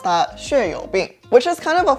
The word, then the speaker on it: 血友病: So in Mandarin, I would pronounce that 血友病, which is kind of a funny name because it's called blood-friendly disease.